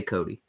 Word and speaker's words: Cote: You know, the French are a little weird with their pronunciation, but I always say Cody.